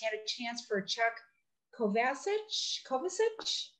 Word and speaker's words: Kovacic: a chance for Chuck Kovacic. How do you say that, Margie? You had it right the first time. Kovacic.